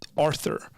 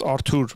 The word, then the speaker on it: Arthur: My name is pronounced Arthur. It's spelled... it's pronounced... In Armenian, it's pronounced Artur, but Artur is the Armenian version of Arthur. So Arthur is fine.